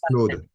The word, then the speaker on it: Claude: I I don't know how you pronounce it in English, but in French it's Claude.